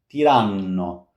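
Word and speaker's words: tiranno: Boa not bo two T's means long latte latte not latte latte tano once again long N this is a long sound tan Tyrano, not Tyrano.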